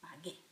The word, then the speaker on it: pagué: So instead of P-A-G-E with an accent, because that would say pahe, I need a hard G sound, put a U and make it pagué.